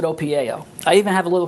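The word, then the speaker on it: OPIAO: a concept between invented called o p i a o which stands for only positivity in and out or inside and out what is that and how do you practice that well okay I pronounce it opao I even have a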